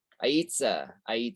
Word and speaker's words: Aitza: Aitza, how do you pronounce that name? Aitza? Sound like I'm pronouncing that wrong. Aitza, that makes more sense there.